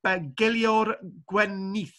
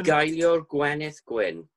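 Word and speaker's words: Bugeilio'r Gwenith Gwyn: a poetry song, love song, known as the Beguilor Gwenith, which is probably the wrong pronunciation. It's sort of Beguilor Gwenith Gwyn.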